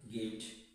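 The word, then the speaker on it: gift: প্রিয় শিক্ষার্থী, এখানেও কিছু ব্যতিক্রম আছে, যেমন গার্ল, গিফট, গিফট। এগুলোর উচ্চারণ কিন্তু একটু ব্যতিক্রম, এগুলোর উচ্চারণ কিন্তু গ হবে।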